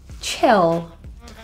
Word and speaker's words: chill: a voice z sound chill this means to relax or take it easy let's just stay in let's just chill tonight the eye vowel in this word is a lower tongue position if you find yourself